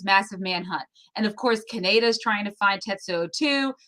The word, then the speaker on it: Kaneda: Kaneda is the way I grew up.